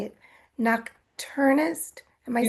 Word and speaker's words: nocturnist: Nocturnist.